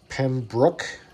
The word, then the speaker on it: Pembroke: yep Eddie match from Pembroke Ontario and by the way that is Pembroke not Pembroke just saying you pronounce it however the